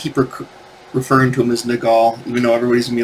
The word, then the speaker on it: Nagel: So we're talking about Patrick Nagel, is how I pronounce it. Like, as in Nepal, Nagel. Actually, some people call it Nagel. And I think that's actually how you do pronounce it, Patrick Nagel, because it's N-A-G-E-L. But I always call him Nagel because it just sounds more artistic and more right?